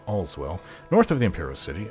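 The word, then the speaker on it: Aleswell: to all as well you would think it's pronounced ale as well but all's well north of the imperial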